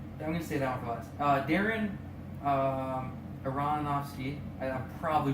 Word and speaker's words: Aronofsky: gonna see I'm gonna say that was Darren Aronofsky and I'm probably pronouncing that wrong are they are go and they are om o sky it's right now Darren Aronofsky yeah so he's he's directed on Black Swan